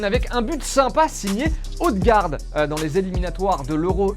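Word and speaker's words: Ødegaard: Allez, petite pause dans la quotidienne avec un but sympa signé Odegaard dans les éliminatoires de l'Euro U21. Alors on a bien dit Odegaard et pas Odegaard.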